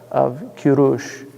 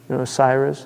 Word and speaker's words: Kurush: I mean, if you read the story if you read in Herodotus the story of Kurush, Cyrus.